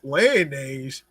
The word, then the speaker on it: Lyonnaise: Wait, Lyonnaise? It kind of rhymes with mayonnaise a bit.